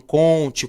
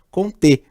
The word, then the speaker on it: Comte: Pode ser que você escute alguém falando Comte, Comte, não tem problema, tá? Não existe ainda vestibular no Brasil que avalia a pronúncia de você. Então você pode falar Comte ou Comte, não tem problema. Como ele é francês, a gente fala Comte como correto, certo?